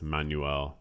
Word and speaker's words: Manuel: that part a video I did mispronounce Manuel it's I pronounce it as three syllables Manuel I was really trying guys